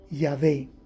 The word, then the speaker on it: Yahvé: Los rabinos judíos dicen que la pronunciación correcta de esas 4 consonantes, YHWH o W como dicen por acá, en inglés sería Yahweh y en español sería Yahvé. Por favor, entienda correctamente.